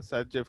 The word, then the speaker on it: Zaitsev: लिखा है जेड से, इसका प्रोनाउंसिएशन सेचेफ के जैसा होता है, तो इसीलिए इसको एनसीईआरटी में सेचेफ रूल बोल दिया गया है. बट एक्चुअल में वो जो जेटसेव्स है उसका प्रोनाउंसिएशन इस तरह का है, इसलिए ऐसा नाम मेंशन कर दिया गया है.